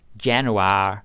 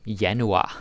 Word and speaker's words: januar: be a bit hard don't be like Janu yanu that's how you say it yanu okay what